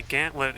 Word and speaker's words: gantlet: the challenge the gauntlet which apparently gantlet is the like proper old pronunciation for you know running through uh for like a trial of danger and stuff running through a gantlet in order to distinguish it from gauntlet but that's just how